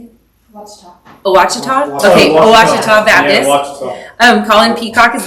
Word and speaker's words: Ouachita: Okay, Ouachita Baptist.